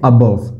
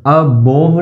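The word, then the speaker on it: above: फिर आप देखोगे इसको बोलते हैं अबव, अबोव नहीं अबव, अबव।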